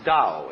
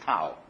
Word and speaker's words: Tao: That's pronounced Dao. If it had an apostrophe after it, it would be pronounced Tao.